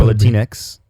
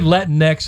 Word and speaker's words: Latinx: Latinas and Latinas or latinx oh no uh after rhymes with Kleenex and they don't want